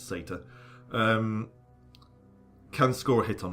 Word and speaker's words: satyr: And from its position right in front of us, this particular satyr, or satire, or however you want to pronounce it, I pronounce it satyr, can score a hit